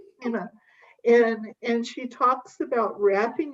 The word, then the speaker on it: Pema: on I've always called her Kima. Pema.